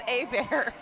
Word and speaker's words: Abear: Uh shout out to team uh Abear or Herbert, whichever pronunciation, I forget which one it is. It's Abear.